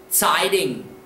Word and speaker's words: Zeitung: We have EI combination, remember how that sounds? And a G on the end, remember what that does?